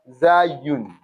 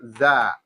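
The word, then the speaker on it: ز: So, and you can also pronounce it as Za.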